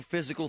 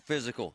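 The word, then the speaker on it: Fyzical: You want a new physical therapy experience? You want a treatment plan centered on you? Monroeville Physical, spelled F Y Z I C A L is spelled different, you know, because they are different.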